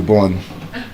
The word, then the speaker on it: burn: Pronounce this words correctly. Burn. Turn. Not turn. You don't turn to the right or turn to the left. You turn. Long sound. Again, there are patterns. You are in a word. Burn. Turn. Urge. Search. You are in the word. They are patterns. It's not Thursday. Thursday sound. Thursday.